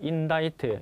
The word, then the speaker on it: indict: 여러분 발음 끼워 시험에 안 나오지만 얘는 발음 끼워 나올 때 정말 시험에 많이 나왔던 것이죠. 얘는 indict입니다. indict.